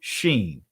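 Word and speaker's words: שׁ: left it'll make us it'll be pronounced seen if it was to the right it'll be sheen you don't have to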